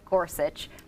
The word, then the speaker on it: Gorsuch: start with you windy and talk about Neil Gorsuch for Supreme Court nominee your general thoughts on